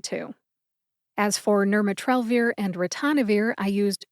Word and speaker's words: ritonavir: As for Nirmatrelvir and Ritonavir, I used 2 different resources. Let's talk about where I found the pronunciation of Ritonavir first.